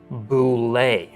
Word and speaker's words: bulette: bullet it says that the bullette is actually pronounced Boule so there you have it boule ble ble definitely sounds weird to me so I'm going to keep pronouncing it bulette let me know how you pronounce it I